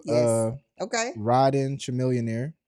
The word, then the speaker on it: Chamillionaire: Y'all tell him in the comments that it's pronounced Chamillionaire.